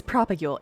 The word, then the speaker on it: propagule: It's propagule. It's propagule. You say it every time and then you just add on like 18 different syllables.